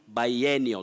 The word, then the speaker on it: biennial: museum museum and biennial we have biannual or biannual but your word is biennial that is b-i-e-n-n-i-a-l abdi